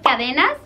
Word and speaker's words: cadenas: La siguiente palabra es cadenas. En francés no se pronunciaría la S y sería cadena.